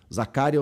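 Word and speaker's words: Zakaria: Zacária ou Zacaria ou Zacarias. É Zacaria, tá? Não tem s.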